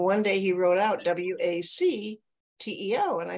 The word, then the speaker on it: WACTEO: W-A-C-T-E-O. And it's pronounced Wacteo.